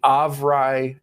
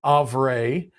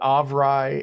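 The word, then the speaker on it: Avrae: news for us D&D Beyond has acquired the of wry discord bot and that is how it is pronounced it is all right I am fairly certain that almost all of you pronounce it of Ray but of Roy is how the creator of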